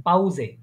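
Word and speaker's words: Pause: প্রোনাউন্সিয়েশনটা পাউজে পাউসে হ্যাঁ এস উচ্চারণ করবেন এটা জের উচ্চারণ করবেন পাউজে পাউজে পাউজে পাউজে মানে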